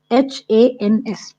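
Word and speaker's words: Eynsham: It is a very difficult word to pronounce. Enshans.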